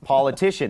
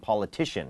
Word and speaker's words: politician: นัก การ เมือง poan politician เน้น พยัง tian politician นะ ฮะ ซึ่ง ที่ น่า สังเกต